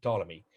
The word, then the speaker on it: Ptolemy: second century a.d ptolemy you don't pretend you don't uh pronounce his let his first letter p just say ptolemy but i see it